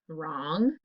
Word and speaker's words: wrong: sound er so it could be r w r or rh and the words are wrong wrist rhubarb and trophy